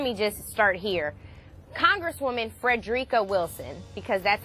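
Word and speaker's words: Frederica Wilson: so first let me just start here congresswoman Freda Wilson because that's how we pronounce her name is a former principal she's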